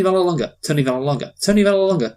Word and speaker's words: Vallelonga: To be Yeah, fair, yeah, I see where you're coming from, but yeah, Tony Vallelonga.